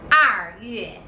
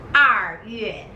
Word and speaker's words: 二月: 二月 is February. 二月 R. When you pronounce R, you need to curl your tongue.